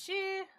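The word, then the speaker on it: 四: Extremely unlucky is pronounced as she.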